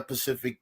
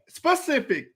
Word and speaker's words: specific: time he brought up it's not pacific it's the word is not this is really frustrating me the word is not pacific mari what's the word what's the word how do you say it specific why is he saying